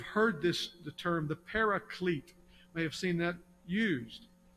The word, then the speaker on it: Paraclete: this the term the Paraclete may have seen that used some people read that and they mispronounce it parakeet it's not parakeet Paraclete the Paraclete is the